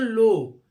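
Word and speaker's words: low: Silent W हो जाता है और ओ का उच्चारण ही होता है, ओ डाब्लू। जैसे एल ओ डाब्लू, इसको हम पढ़ते हैं लो, यानी डाब्लू का कहीं जिक्र नहीं आ रहा है।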